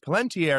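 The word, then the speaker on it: Palantír: and it's pronounced palentier in the movies, but it's spelled Palunteer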